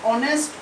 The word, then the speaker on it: honest: মিসেস সেন ইজ, এটা হনেস্ট উচ্চারণ নয়, এটা হবে অনেস্ট উচ্চারণ, তাহলে এক্ষেত্রে হবে অ্যান অনেস্ট।